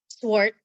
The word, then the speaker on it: Schwart: with you ma'am uh and ma'am how you pronounce your last name swart s swt it's I pronounced it correctly then